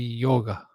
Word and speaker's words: yoga: So you speak about yoga, but if you go into India, it should be yoga. Yoga. Yoga. It's an almost silent A if it's properly pronounced, classically.